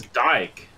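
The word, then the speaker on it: dige: just go in danish it's called a d-i-g-e i'm pretty sure it's dyke dyke it's literally tank dyke is how you pronounce it oh so where are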